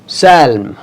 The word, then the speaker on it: psalm: Look at this word PSALM, salm. P नहीं पढ़ा जा रहा इसमें. P को completely silent रखा गया है यहाँ पे. और साउंड कैसी आती है? Salm. P is silent in the above word.